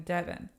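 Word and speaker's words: Deavan: you see my name it's spelled d-e-a-v-a-n it's a very weird spelling Devin it's because it's supposed to be spelled like heaven but um my birth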